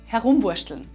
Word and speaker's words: herumwuaschtln: In our dialect from Salzburg we would pronounce “herummursteln” like this: “herumwuaschtln”.